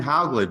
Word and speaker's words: Hauglid: that all right sure all right brian m how glad by the way i am pronouncing that correctly yes okay is an associate